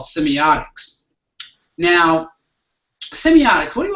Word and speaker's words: semiotic: Well, you're thinking about symbiotic as opposed to semiotic. Oh, semiotic. Semiotic, not symbiotic.